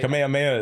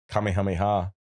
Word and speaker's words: Kamehameha: is King Kamehameha Kamehameha depends the pronunciation makes a big difference right Kamehameha is like the natural pronunciation and then Kamehameha is the Dragon Ball Z pronunciation okay full of facts